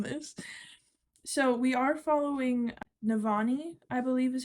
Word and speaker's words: Navani: a minute from this so we are following navani I believe is how you pronounce her name I thought that this would